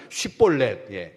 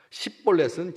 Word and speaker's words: 쉿볼렛: 때 우리가 잘 아는 쉿볼렛, 이 발음을 한 사람, 쉿볼렛이라고 발음할 수 있는 다른 지파들은 다 쉿볼렛이라고 발음을 하는데 에브라임 지파 사람들은 쉿볼렛이라고 하는 발음을 못해서 십볼렛이라고 했거든. 10이나 뭐 그게 그거죠.